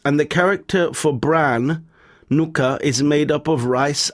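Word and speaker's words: 糠: And so the result of this technology, the leftovers is white and rice, and the character for bran, nuka, is made up of rice and health.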